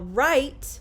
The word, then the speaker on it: rite: look at this word this is the same word but it's spelled differently it still is pronounced the same way i write puberty is a rite of passage to adulthood